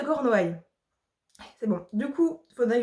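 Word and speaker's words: Cornouailles: de Corneil Corneil Corneil j'ai un gros doute sur le nom attendez je vérifie en fait du coup oui si j'ai prononcé très mal le nom ça c'était le corps Noï en même temps je cors c'est très particulier le comment l'orthographe et la prononciation pareil bref donc c'est des lutin de cornoail c'est bon du coup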